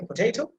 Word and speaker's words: potato: O sound, like you see, here you can see the potato. How can you can pronounce it? See ta sound, the third syllable, that will be emphasized.